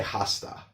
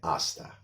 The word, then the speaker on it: hasta: So in hasta la vista, the H is silent. We don't say hasta, we say hasta.